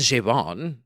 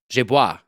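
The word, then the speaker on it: j'ai bu: I learned how to say it's it's not j'ai bon. No. J'ai bois. I drank.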